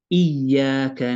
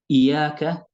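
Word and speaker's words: إياك: Iyyaka na'budu. Iyyaka na'budu. Iyaka is incorrect.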